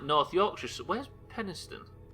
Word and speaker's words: Penistone: thing in the world that somebody's surname was Penis Tone.